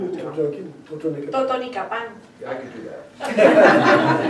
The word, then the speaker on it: Totonicapán: Totonicapán.